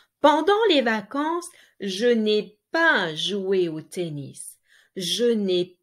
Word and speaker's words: pas: Je n'ai pas, there is a S, you don't pronounce it, joué au tennis.